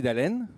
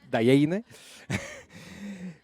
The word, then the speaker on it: Dhalleine: Bueno, me llamo Timothy Dalen, lo pronunciaste muy bien, te felicito. Mucho mejor que en el registro civil, donde dicen Dayeine.